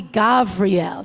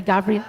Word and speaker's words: Gavriel: And we'll do sort of the Hebrew pronunciation of Michael. So try Michael. Michael. On your left will be Gavriel. Try Gavriel. Gavriel, the angel of strength.